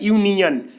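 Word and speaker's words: union: यू जो है हमारा भवेल है, लेकिन अगर हम इसी को उच्चारण करेंगे तो हमारा देखते हैं कि कॉन्सोनेंट आ जा रहा है, यूनियन, यू आ जा रहा है यूनियन।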